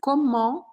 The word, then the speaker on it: comment: Comment, sim, é uma pergunta. E a pronúncia é comme, paro no M, ou comment, e faço um som anasalado.